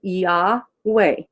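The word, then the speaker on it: Iove: The I is pronounced like an E. The O is pronounced like a short O, like an ah. And the V is pronounced like a W. It's not pronounced like a V. And the E is pronounced like a short E. And all together, you put it together, you get Yahweh.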